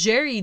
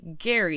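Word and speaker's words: Gerry: through listening to podcasts it is jerry duggan and not gary even though it's a g so go figure um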